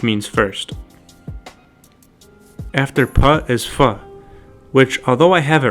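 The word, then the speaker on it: फ: fun, that's only because our English letter F is the closest sound to fa. This is an aspirated pa sound. We make the F sound with our teeth and lips, but to correctly pronounce this Nepali consonant, fa, the sound is made with the lips only, and air that blows through the lips.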